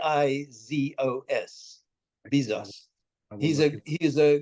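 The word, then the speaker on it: Bizos: so look you you look up George Bezos it's spelled b i zos Bezos he's a he is a great great uh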